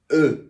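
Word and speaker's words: œufs: Well, if it's one egg, it's œuf. If it's two eggs, it's œuf. Œuf? Yeah, just œuf. What happened to the F? The F is silent. It's silent F.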